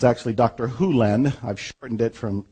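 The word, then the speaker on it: Hew Len: and it's actually Dr Hulen I've shortened it from E to Dr Len but it's actually Dr Hulen if you want to say his name correctly in Dr hen's world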